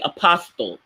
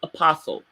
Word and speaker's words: apostle: apostle and they'll say apostille don't say it like it's spelled but it's pronounced apostle I've heard people do